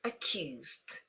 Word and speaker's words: accused: Okay, yes, accused. Okay, remember that this one becomes a sound T, as in Turin, accused.